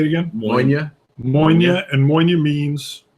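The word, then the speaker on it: Mòine: Moine.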